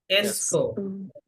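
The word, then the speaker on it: est-ce que: किसके আচ্ছা, বলেন किसके এসকো, বলেন এসকো, এসকো। এটাকে ভেঙে বলা যাবে না, এটা একসঙ্গে বলতে হয়। আপনি ভেঙে বললে হবে এটা এ হচ্ছে তো কো, এরকম না, হ্যাঁ?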